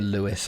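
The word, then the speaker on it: Lewes: that's called Lewis like it's pronounced Lewis but it's l-e-w-e-s not is it's Lampard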